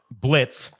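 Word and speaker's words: Blitzø: So basically, the story in the pilot kind of opens up with Blitz, but the name's it's spelled Blitzo, but the O is silent, which is I thought that was fucking hilarious.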